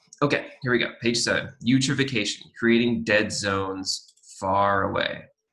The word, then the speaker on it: eutrophication: hard word to say the e is silent so you troph ph you trophic asian eutrophication and this is creating